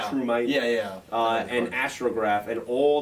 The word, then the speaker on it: Electrumite: this is what, Electrotrimite? Am I pronouncing that right? yeah. Electrumite.